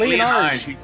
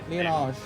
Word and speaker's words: Liyanage: It's like Liyanage. You pronounce it like with an R. Liyanage. Alright. It's like you pronounce it like with if there's an R in there.